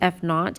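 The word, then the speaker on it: f₀: o and it's pronounced not this should be pronounced f naught but we are going to say that the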